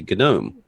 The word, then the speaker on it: GNOME: um so I yeah I just started saying gome because I think the English would support that but well anytime I'll do a video I say both and I started saying gnome early on because if you go to the gnome website or the gome website they'll say gnome you new in Gnome